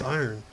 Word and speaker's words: iron: Well, one of my subscribers said that I pronounce iron weird. It's iron. Yeah, they're like, why do you pronounce it? They said I pronounced it like Ian or something like that. I was like, when the fuck did I ever say Ian? I said iron every time.